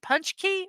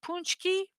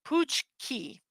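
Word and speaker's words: pączki: to the Middle Ages they call it a punch key or punch key so I was pronouncing it totally wrong um or Pooch key it's traditionally a round polish pastry filled with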